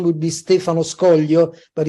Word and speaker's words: Scoglio: uh today's guest I'm honored to have Stefano scoglio I think I may have even pronounced it correctly or close enough well no